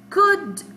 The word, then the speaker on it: could: Her boat could float. And I told you here, I have silent letter, which is L. Could.